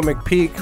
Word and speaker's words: McPeek: Today we have Dale McPeek, right? Did I say it right? Is That's that right. How to properly pronounce it?